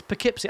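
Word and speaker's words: Poughkeepsie: It's Pikipsy.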